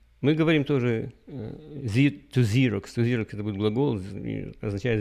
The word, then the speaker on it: Xerox: в лучшие людям расскажите как правильно говорить зиракс это будет интересно особенно когда они делают копии документы на своем и пикирует покрыт и говорят ксерокопировать почему же не говорят с юлей их юли копировать или или юли копирует отвечаю ксерокс слова начинаются с буквы x у нас в произношении принято что если буква икс это первая буква я думаю так то она признана как xii и сын вибро поэтому